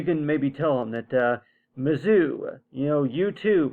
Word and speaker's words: Mizzou: By the way, you spelled it with a ZOO right here, but the way it's pronounced, it's Mizzou right here.